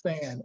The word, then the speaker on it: SANH: I got to high school, I was a part of a group called the Student Advocates of Negro History, pronounced SAN, SANH, SAN.